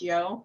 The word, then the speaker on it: io: I love the fact that I-O is pronounced yo, and it's a call for like during the revels and stuff.